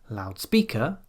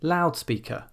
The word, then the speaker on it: loudspeaker: So loud is an adjective, but we don't say loudspeaker, we say loudspeaker.